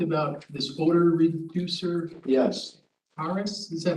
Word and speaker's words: Carus: Yeah, in the January 26th meeting minutes, Kevin, they talked about this odor reducer, Yes, CARUS, is that how you say it? CARUS?